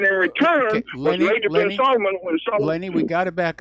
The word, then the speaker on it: Salman: Now, what Jared Kushner got in return was Major bin Salman. Lenny, we got to back up. First of all, it's pronounced Salman, not Solomon.